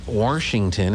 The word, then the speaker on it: Washington: or are you worsh they do add an r around here washington and i'm like there's no r in washington anyway it is it